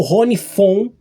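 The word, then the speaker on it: Ronnie Von: Eu tô falando do máquina voadora, o último da tríade do Ronivon de 1970 ou Ronifon, que é a pronúncia correta, né? Porque o V ali tem um som de um F, né?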